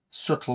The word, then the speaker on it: subtle: toys little branches just subtle with a silent B which is same with